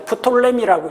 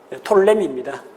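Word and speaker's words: Ptolemy: 그다음 톨레미는 앞쪽에 P자 묵음입니다. 프톨레미라고 읽는데 톨레미입니다.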